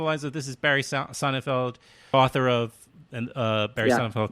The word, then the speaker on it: Sonnenfeld: And interesting, so it's you pronounce your name Sonnenfeld. I right? do. Others say Sonnenfeld, but I say Sonnenfeld.